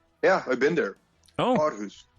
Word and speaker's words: Aarhus: Aarhus. Aarhus. There we go. Thank you. I have someone who can actually pronounce things properly on the show.